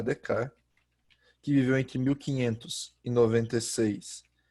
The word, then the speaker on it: Descartes: Então, os principais nomes desse iluminismo nascente, deixa eu colocar aqui o I maiúsculo, são René Descartes, ou René Descartes, o jeito certo de falar é Descartes, que viveu entre 1596 e 1650.